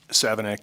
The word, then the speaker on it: Savignac: Is it Mr. Savignac? Did I? Okay. And I always want to make sure that I'm pronouncing it correct because I think it shows lack of respect when you don't pronounce people's name the correct way. So anyway. Savignac, and I thank you, ma'am, and I do appreciate that. So you were in Korea? Savignac, yes, ma'am.